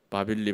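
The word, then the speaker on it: Bāb-ili: 말을 바벨론 있죠 바벨론 바벨론 말로 이렇게 바꾸면 일라고 발음을 하거든요 일리 일리를 이렇게 붙여서 발음을 하면 어 어떻게 발음이 돼요 바빌리 바빌리 바빌리 바빌리 바빌로니아 바빌론 바벨론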